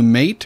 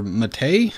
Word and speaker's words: MATE: using a boon to mate or matei as it's apparently pronounced nineteen point ten here